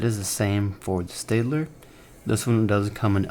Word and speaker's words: Staedtler: other one being the Staedtler Fineliner. Hope I'm saying that right. Staedtler. I know sometimes people get that name wrong. I usually call it Staedtler, but Staedtler.